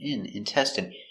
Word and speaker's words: intestine: So remember, the INE is pronounced intestine.